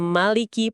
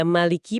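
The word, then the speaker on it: مَالِكِ: Ada Maliki pakai A panjang, ada Maliki pakai A pendek. Apa bedanya tuh?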